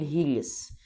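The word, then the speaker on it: hideous: بعد كده هتقول قول هيديس طبعا انا مش بنطق الدي لان يعني هي دي الامريكان اكسنت بس هنقولها برضو هيديس هيديس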